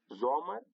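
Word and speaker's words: Sommer: لکه زومر. زومر یعنې دوبی. تاسو په دې لغات کې وګورئ، په دې اسم کې د اس مخته او راغلې ده، ځکه یې نو د زی آواز ورکړی دی.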